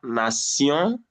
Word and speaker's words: nation: When you have letter T with I, if there is another vowel immediately after that I, that T becomes S. Yes. So you have nation, passion.